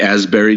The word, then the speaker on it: Asbury: The Asbury Jukes. Asbury Jukes. Is that Asbury spelled like Ashbury? Is that in reference to the park? Yeah, well, it's Asbury Park, so no H, A-S-B-U-R-Y.